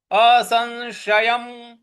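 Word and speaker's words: असंशयम्: है तो असन सन इस प्रकार से बोलेंगे असशयम असंशयम महाबाहु महाबाहु असंशयम महाबाहु मनो मनो दुर्ग्रह दुर्ग्रह चलम दुर्ग्रह चलम देखिए असंशयम छोटा वाला स है तो स बोलना है।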